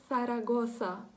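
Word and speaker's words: Zaragoza: Або хороше ще слово для того, щоб вам потренувати, це буде назва іспанського міста, яке називається «Сарагоса», «Сарагоса». На початку, коли ви зараз почнете вимовляти в голос ці слова, вони будуть звучати вам трохи дивно, так?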